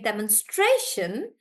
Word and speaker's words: demonstration: espresso pre and then demonstration Deon stray so because of the Shan guys so Shan is kind of like a short short rule that whenever there is Shan we stress on the one before that and that's why we saying demonstration like that and and I've answered